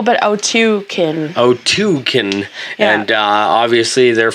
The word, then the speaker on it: Otyken: And it's to pronounce it like oat and otyken. Then you. K-E-N, yeah. Otyken. Like Hadouken.